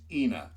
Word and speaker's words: Ina: She apparently pronounced her name Ena. It's spelled I N A for those of you who know Tucson.